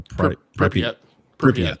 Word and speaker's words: Pripyat: Sky, and Call of Pripyat. I don't know if I'm pronouncing that correct, or Pripyat.